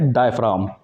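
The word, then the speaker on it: diaphragm: और इसको बोलेंगे डायफ्राम, डायफ्राम, जी इसमें साइलेंट होता है, ठीक है।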